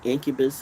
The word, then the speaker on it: Incubus: Which gets to that movie Incubus or whatever it is, which rhymes with succubus.